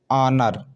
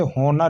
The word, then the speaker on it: honour: देखिए ऑनर, बल्कि इसे होनर नहीं पढ़ेंगे। ठीक है, क्योंकि ओ से पहले एच आया है ना, तो ये क्या रहता है? एच साइलेंट रहता है, इसे पढ़ते नहीं। स्पेलिंग देख लीजिए, HONOUR, ऑनर पढ़ते हैं, बल्कि हॉनर नहीं पढ़ते हैं।